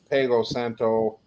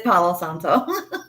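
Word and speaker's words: palo santo: Blood Sage white sage with cinnamon black Sage P Santo I'm saying us drag okay okay I'm totally saying it wrong aren't I it's pgo Santo right it's Pao Santo PA sant okay I'm saying P Santo over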